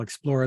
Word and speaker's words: Xplora: information there well congratulations on the success it is spelled for those of you listening XP l-o-r-a that's how you spell explorer there's no e in there it's then Kirk